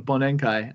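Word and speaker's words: bōnenkai: year party, which in Japan is called a bonenkai, and I am gonna get fucking wasted.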